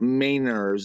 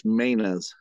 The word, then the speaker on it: Mainers: Maynard's up here maintenance we don't pronounce our R's up here so not mainers it's mainas so we like to